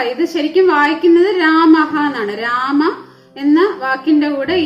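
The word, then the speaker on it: രാമഃ: ഹായുടെ പകുതി ഉച്ചാരണമേ പാടുള്ളൂ. ഉദാഹരണം നമുക്കിവിടെ നോക്കാം. രാമഹ, ഇത് ശരിക്കും വായിക്കുന്നത് രാമഹ എന്നാണ്. രാമ എന്ന വാക്കിന്റെ കൂടെ ഈ 2 ഡോട്ട് വിസർഗം ഇട്ടപ്പോ ഇത് വായിക്കുന്നത് രാമഹ എന്നാണ്.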